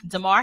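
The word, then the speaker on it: Damar: a sad story am I saying it right Tamar yeah Demar Hamlin um if you guys don't know um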